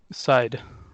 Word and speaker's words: Darkseid: Is it Darkseid or Darkseid? Side. Are you sure? Yep. I'm sure. I heard say it's Seed, like But Darkseid.